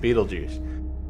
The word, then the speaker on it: Beetlejuice: vulgar bioexorcist from the netherworld named Beetle Goose, pronounced Beetlejuice, played by Michael Keaton.